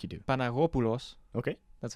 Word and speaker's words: Panagopoulos: Panagopoulos.